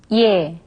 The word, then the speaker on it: 예: Now, let's first look at instances when it is pronounced simply as yeah. Alright, now let's repeat after 선생님. 예, 예, 예술, 예술, 예뻐요, 예뻐요.